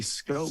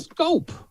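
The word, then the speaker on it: Schoop: a phonics lesson because he's not pronouncing his name the way it's spelled but the guy's batting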